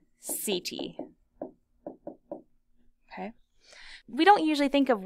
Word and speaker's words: setae: And I know those words don't look and sound the way that they sound, so we'll write underneath that these are pronounced chaetae and setae.